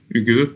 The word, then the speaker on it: Hygge: Hygge, ça s'écrit Hy-2-G-E.